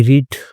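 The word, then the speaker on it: read: तो 11 की स्पेलिंग जो है वो नोटबुक में देखी। तो यह लिखी हुई थी 11। आई रीड। Okay. I रीड नहीं पढ़ेंगे क्योंकि पास्ट की बात हो रही है तो रेड पढ़ेंगे इसको।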